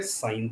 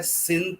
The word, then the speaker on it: sine: होगा ऐसे लिखा जाएगा, पढ़ा क्या जा रहा है साइन थीटा, चाहे देखने में लग रहा है सिन theta, but हाउ वी are going to pronounce this साइन theta.